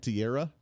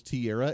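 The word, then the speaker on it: Teixeira: Jack Tierra. Is that how they're pronouncing it? It looks like TX Sierra, but I believe it's Tierra in the probe for the classified document leaks.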